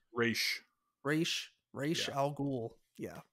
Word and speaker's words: Ra's al Ghul: And then I was gonna say Ra's al Ghul because I think that's how they say it in the movies, but it That's sounded like incorrect. but like Raj, like Rag almost.